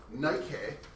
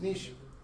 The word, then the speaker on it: niche: it's called its Niche not as I once said it's Nik um I was made fun of in uh physics 11 because I said in prayer in a presentation in honors physics even the teacher made fun of me I also used to say Boven I read a lot I didn't talk a lot um it's Nish natural selection bethoven bethoven